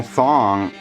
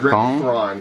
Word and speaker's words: Thrawn: Admiral Thong. Is that how you say it? Thrawn. Thrawn.